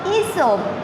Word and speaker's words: Aesop: Aesop pronounced Aesop.